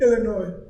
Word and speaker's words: Illinois: I think the S is silent. What do you mean? Illinois.